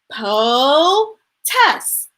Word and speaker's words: POTUS: that a funny name you say it like this po test protest silly right penny